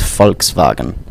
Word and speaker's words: Volkswagen: it's, How do you spell, for example, Volkswagen? Interesting because my second language is German, so it's the pronunciation is the V is like an F, so it's Volkswagen, and the Ah, W is like a sorry.